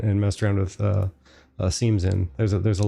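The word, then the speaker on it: SIEM: centers uh there are there's something called a seam or Sim Everyone likes to call it I'm definitely calling it a seam because it's spelled s m security in information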